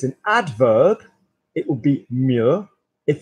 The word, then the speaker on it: mieux: I used to say, better is two words and it will go to one sound, two syllables, and it will go to one sound in French, so mieux.